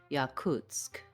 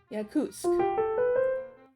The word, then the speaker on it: Yakutsk: Presents how to pronounce Yakutsk. Yakutsk. Yakutsk. Build this word from the stress syllable Kutsk. Try Kut, Kuts, Kutsk.